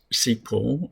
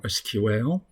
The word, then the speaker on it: SQL: Okay, let's get started with the introduction of structured query language, pronounced as SQL or SQL.